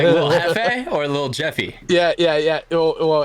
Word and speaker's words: Jefe: Like Little Hefe or Little Jeffy? Yeah. Well, it is Hefe, but we went to this Mexican restaurant at World Cup when we were still Aftermath, and I wasn't saying it correctly.